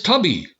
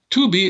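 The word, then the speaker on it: Tubi: select Smart TVs and this tubby or to be well it's spelled tu bi to be is a stellar ad-supported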